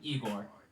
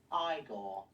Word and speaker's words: Igor: but manages to find igor now it's pronounced igor but they told me it was igor well they were wrong then weren't they unfortunately igor